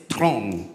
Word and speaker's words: Theron: Is it Theron or Theron? It's Throne in South African. Yeah. So it's like you can say Throne.